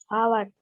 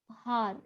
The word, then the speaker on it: hour: तो यहाँ पर ये जो H है ये साइलेंट है, ठीक है। यहाँ पर H इंग्लिश का कॉन्सोनेंट है। This spelling starts with a consonant, but when we speak this word, जब हम इसको बोलते हैं तो वी डोंट स्पीक हार, ऐसे ये ह का प्रोनाउंसिएशन नहीं होता है इसमें। ह इसमें मतलब H इसमें साइलेंट है।